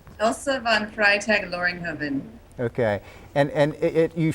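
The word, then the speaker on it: Elsa von Freytag-Loringhoven: i'll mess her name up how do you pronounce her name elsa von freitag loringhoven okay and and it you find yourself as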